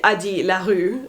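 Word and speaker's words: Addie LaRue: it really should be adi larue and i just it's so weird to pronounce it the french way when i know the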